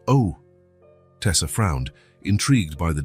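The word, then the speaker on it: eau: It's spelled E-A-U, but pronounced O.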